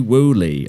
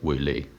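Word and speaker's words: Wulei: shared by the account free wooly i think that's how you say it uh free and then w-u-l-e-i we'll link to it in the in the podcast as well espanol player like woo lee is it yeah okay i don't know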